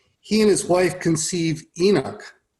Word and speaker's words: Enoch: and his wife conceive Enoch. Am I pronouncing it right? Yeah. Enoch? Right, yes. Okay.